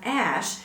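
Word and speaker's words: Æ: is just x and the a e is pronounced ash whereas later on he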